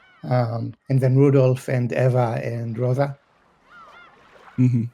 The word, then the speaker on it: Eva: Yeah, cuz I noticed you spe- you said Eva. Cuz I was specifically told to say Ava. Is that incorrect? I mean, if the difference between Eva and Ava Yeah. is that I mean, Japanese doesn't do Ava.